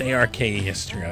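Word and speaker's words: Arkestra: Then Thursday we got Golden Dawn Orchestra. It's Orchestra, if you're wondering if I'm mispronouncing.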